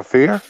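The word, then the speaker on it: Kfir: to pronounce his name it's K if I R so I go fear yeah baby that's how you pronounce it I was gonna try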